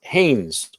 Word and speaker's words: Hannes: And this Haynes or Hannes. How do you pronounce it? It's called Hannes, but you can call me Hans. It's just typical German name.